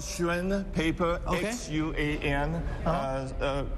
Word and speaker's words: Xuan: X-U-A-N. Uh-huh. People here might call that rice paper, but the actual pronunciation is Xuan.